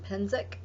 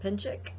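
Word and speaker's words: Penczak: Now, I believe he pronounces his name Penzic or Pinchik.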